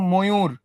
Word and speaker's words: ময়ূর: নিচে ময়ূর ছিল, দেখো ময়ূর, মর সঙ্গে যুক্ত অবস্থায় কি ছিল? একটা অ ছিল। এই ওটা কি হয়ে যাবে তাহলে? ওকার হয়ে যাবে। এই যে ময় ওকার, ময়ূর। ক্লিয়ার?